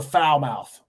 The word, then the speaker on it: Falmouth: no we're going to foul mouth is that how you actually pronounce it yeah we've been to Montego Bay I don't know how many times uh Falmouth Jamaica it's very close